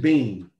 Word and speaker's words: Beane: last name you you're people trying to put more syllables in it there's just bean yeah i wish it